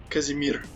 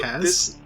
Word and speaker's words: Kazimir: We're gonna learn about how did you pronounce it? Kazimir? Kazimir. Okay. So Kaz?